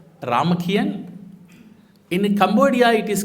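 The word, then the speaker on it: Ramakien: In Thailand, it is called Ramakian. In Cambodia, it is called Rem. But meaning is same. Meaning is Ramakiri. But they pronounce it as a Ramakian.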